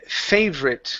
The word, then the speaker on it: favorite: Next up is the word favorite. Okay, this A right here, that is a long A sound.